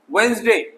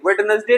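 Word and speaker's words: Wednesday: वेंसडे, ठीक है, वेंसडे, वेडनेसडे नहीं।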